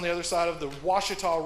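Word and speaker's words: Ouachita: other side of the Washita River which is not spelled with the W o u achi tah named after the Washita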